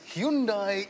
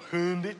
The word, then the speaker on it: Hyundai: And you call it a Hyundai. I prefer Hyundai.